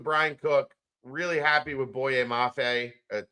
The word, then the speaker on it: Boye Mafe: Boye Mafe. We're pronouncing every letter of that name.